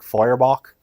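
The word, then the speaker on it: Feuerbach: he's getting this from from his mentor Ludwig foyerbach um is that don't ask me to spell it it's German um actually I think it's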